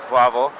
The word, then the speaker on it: Wawel: Okay, so we're in Wawel Castle, which as Sophia said yesterday, is spelled with W's, but they pronounce W's with V's, so it's Wawel.